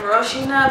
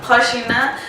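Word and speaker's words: Rocinha: to the HHA flla it's written Rosina but it's pronounced Hina um FAA in Rio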